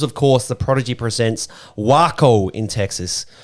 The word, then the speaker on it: Waco: course The Prodigy presents wo in Texas I think that's how you say it right like taco yes wo yep wo is way